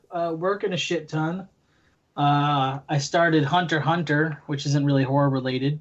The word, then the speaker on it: Hunter x Hunter: a hunter x hunter so that's how it's spelled out but when the characters pronounce the title they just say hunter hunter they don't never say the X huh so I don't